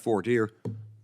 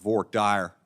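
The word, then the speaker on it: voir dire: parts of the country we we call that for de only in Tex Tex they call it VOR dire I don't really understand the difference in pronunciation but Texans they do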